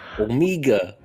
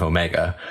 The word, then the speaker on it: Omega: But when this new character is introduced, she pronounces her name Omega. Omega. My name's Omega. Which is really just it's a New Zealand accent of Omega.